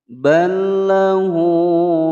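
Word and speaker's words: بَل لَّهُ: Balla, ada lam sukun bertemu dengan huruf lam. Jadi ada huruf yang sama makhraj, sama sifat. Ini adalah hukum bacaan idgham mutamassilain. Cara membacanya yaitu langsung dimasukkan tanpa didengungkan. Tidak boleh sahabat membaca ballahu, tidak boleh didengungkan ya.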